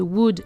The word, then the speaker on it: would: Notez au passage la prononciation de would et should, le L ne se prononce pas.